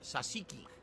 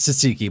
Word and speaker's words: tzatziki: no surprise that you like this food it's pronounced sasiki sasiki sauce tzatziki it's tsatsiki but whatever it's fine you can't pronounce [